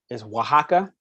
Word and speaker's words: Oaxaca: The next closest location is Oaxaca, which is actually spelled with an O.